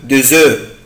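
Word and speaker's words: œufs: بس الكلمة دي في البلوريال أو في الجمع يعني ما بيبقى آخرها اس مش بنطق الاف، بقولها او او دو زو دو زو اون فون دو زو، احنا بنبيع او بيض.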